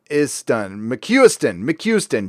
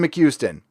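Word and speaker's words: McCuistion: Okay, and it's pronounced McHuston, Jason McHuston. And it's Scottish.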